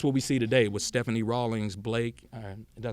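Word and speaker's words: Stephanie Rawlings-Blake: And that's what we see today with Stephanie Rawlings Blake.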